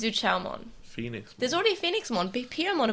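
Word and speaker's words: Zhuqiaomon: It's Zuchaomon.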